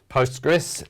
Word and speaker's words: Postgres: database management system so the ql is silent we just call it postgres and it's and postgres